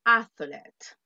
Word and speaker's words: athlete: Y la pronunciación de atleta, athlete. Athlete. TH, athlete. Athlete. Athlete. Yes, la TH, athlete.